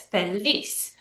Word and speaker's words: feliz: So the word feliz is pronounced like this, feliz.